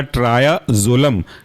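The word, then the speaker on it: triazolam: hypnotic class के अंदर का वह है आपका ट्राया जोलम ट्राया टी आर आई ए और जोलम जेड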